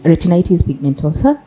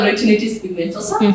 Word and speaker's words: retinitis pigmentosa: uh you have a a condition called um retinitis Pigmentosa would like to know more about it educate